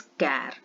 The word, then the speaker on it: char: आप कैपिटल में CHAR नहीं लिख सकते हैं और इसको कभी भी this is pronounce as कैर, CHAR, कैर, int, float and double, and